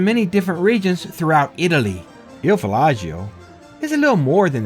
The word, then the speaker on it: Il Viaggio: So the way to pronounce this restaurant is Il Viaggio. Is that correct? Yes, it's Il Viaggio.